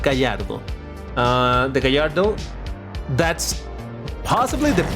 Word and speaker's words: Gallardo: I learned that you pronounce it Gallardo.